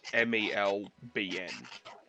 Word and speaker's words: Melbourne: much as we can we just say Melbourne so it's it's like it's mal bien like that's kind of how it's it's like another